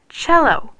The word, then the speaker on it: cello: the middle that's because when C comes before e or I it's pronounced CH H look how do you pronounce this word cello yep what about this